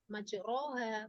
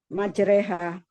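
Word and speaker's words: مجريها: Tapi di sini tidak boleh dibaca majroha kan begitu. Bacanya bagaimana? Majreha. Ya. Ismam apa? Hukumnya. Gitu ya. Jadi apa namanya? Ini juga masuk dalam hukum rok, tapi hukum roknya berbeda. Bukan rok fathah kemudian dibaca tafkhim, tidak. Tapi ini dibacanya adalah imalah. Nanti imalah artinya apa?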